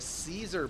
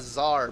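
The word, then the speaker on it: Czar: deny Vortex went for a Caesar build a zar build Zar I will pronounce it like everyone wants me to just just because okay He is building a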